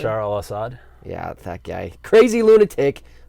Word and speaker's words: Bashar al-Assad: Bashar al-Assad?